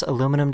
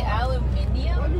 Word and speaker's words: aluminium: I never knew this, but I guess North Americans and Europeans spell and pronounce aluminum differently. You say aluminium, but you're adding an I. No, you guys drop an I.